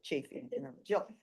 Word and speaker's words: Chaffee: Being that we got Jill Chaffee, am I saying it right? Chafee. Well, we used to get chaff in the barn, so Chafee.